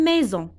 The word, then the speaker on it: maison: La lettre S se prononce Z, c'est comme oiseau et c'est comme maison.